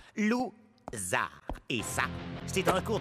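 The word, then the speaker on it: Lou Zarr: Mon nom se prononce Zar. Loup-Zar.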